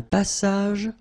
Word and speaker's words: passage: Un passage pour piéton. Final S here, not pronounced, and then final E, not pronounced.